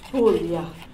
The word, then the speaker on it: Puglia: Puglia, pronounced Puglia, is the region of my father's family.